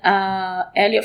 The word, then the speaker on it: Hélio: In Brazil, it says Hélio.